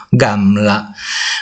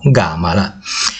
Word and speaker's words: Gamla: profilo di un cammello, Gamla. Da questo trae il nome, anche se i paesani non rispettano l'esatta pronuncia del nome, chiamando Gamala.